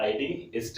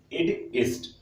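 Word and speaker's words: id est: इसको जो Latin pronunciation है वो आईडी इस्ट है। ठीक है, इड इस्ट, जिसको हम बोलते हैं दैट इज। ठीक है, ये लैटिन वर्ड है, इसका प्रोनाउंसिएशन थोड़ा सा डिफरेंट होता है, बट इसका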